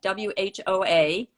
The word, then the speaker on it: Whoa: in wow is that how you say it w-h-o-a network what did you say whoa whoa network